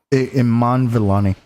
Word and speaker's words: Iman Vellani: Ilani? Iman Vellani.